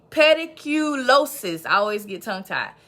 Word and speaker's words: pediculosis: um uh pedicle let me say it right pedicle pediculosis i always get tongue tied pediculosis pubis or